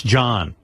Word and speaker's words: Jon: It's Jan. It's Jan. pronounced Jan. Jan. J-O-N. Jan. And by the way, tell Jan it's John in this country. J-O-N is John. It's Danish. Well, whatever. This is America, pal. Jan is Y-O-N.